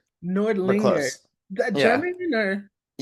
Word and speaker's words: Nordlinger: Am I even pronouncing that right? Nordlinger. Nordlinger.